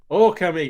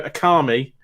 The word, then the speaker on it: Okami: for this conversation last week and it says oh comey it literally tells you how to pronounce the game and just because people want to go akami for some reason like it literally tells you